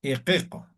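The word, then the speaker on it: iqiqu: Y la U se va a pronunciar como si fuera la vocal O. Ejemplo, voy a poner aquí, ¿ya? Entonces vamos a poner aquí. Em, E, Q, O, ¿ya? Equeco.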